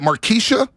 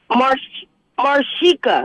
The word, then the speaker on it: Marshika: Let's go to, is it Markeisha in Livermore? How do you pronounce this name? Almost. What is it? Sorry, dear. Marshika.